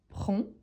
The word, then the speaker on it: prends: 7h je prend je prends n'oublie surtout pas qu'il en a le 2 S à la fin d S pourtant on ne les prononce pas donc on pronon seulement prend j'ai prend mon petit-déjeuner